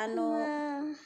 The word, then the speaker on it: makhluk: Huruf K-nya hilang ya lah. Jadi ayah kayak membaca makhluk.